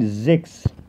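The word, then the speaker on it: sechs: رقم 6 بفكرك ان الحرف ده بيتنطق زي الزد او زين بالعربي، فبنقول زكس.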